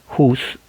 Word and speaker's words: Hus: en inglés es H, la H se pronuncia como una J, no, la H se pronuncia una J, Hus, es quemado en la estaca.